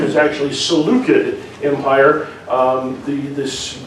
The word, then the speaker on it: Seleucid: current pronunciation is actually seleucid empire um the this the c that i thought was an s sound is actually a k sound i discovered that when